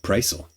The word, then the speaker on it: Prisel: learned how to say his last name, Prisel.